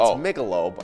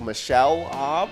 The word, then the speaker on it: Michelob: I was told previously how I said it wrong, but it's Michelob. Right. I said something like Michelle or something like that. I think which her is- name actually might be Michelle, but everybody says Michelob.